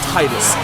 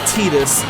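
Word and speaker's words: Tidus: you it's Titus it's not tetus I don't care what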